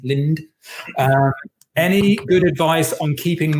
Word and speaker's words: Lind: I think you pronounced the D. I'm going to pronounce the D. Lind.